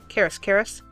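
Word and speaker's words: Karas: But the reason why I like these by Karis so much, and what I'm saying is K-A-R-A-S, K-A-R-A-S, Karis.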